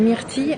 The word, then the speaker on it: myrtilles: Puis les myrtilles, elles sont fabuleuses là.